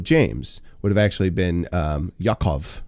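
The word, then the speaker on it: יעקב: That's how John would have been pronounced. James, the Epistle of James, would have actually been Yaakov, right?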